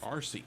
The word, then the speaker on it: Arcy: RC. Like Marcy without the M.